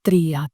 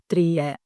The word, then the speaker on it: τρία: And some students say eno, dio, trie. You know, so the last vowel is the problem, but you can remember 3 vowels, right?